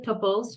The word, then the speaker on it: tuple: Now for the tuples, tuples means rows. We call it as a row, record, or tuple, or tuple, as you want to pronounce it.